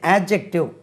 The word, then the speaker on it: adjective: இது adjective. இடம் இல்லை, மேலே எழுதட்டுமா? ADJECTIVE. இடம் தெரியுதா உங்களுக்கு? கண்ணுக்கு தெரியுதா? கொஞ்சம் ADJECTIVE. adjective. அதுக்கு உச்சரிப்பு டி உச்சரிக்கக்கூடாது. அட்ஜெக்டிவ்னு சொல்லக்கூடாது, டி உச்சரிக்காது, அதில் சைலண்ட்டாக இருக்கும். adjective.